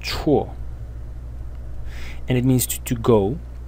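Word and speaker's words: 辶: And it is pronounced chuo.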